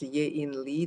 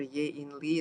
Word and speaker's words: Ye-In Lee: Her name is Ye-In Lee, Dr. Ye-In Lee. It's spelled Y-E-I-N, Y-E-I-N, Lee, L-E-E.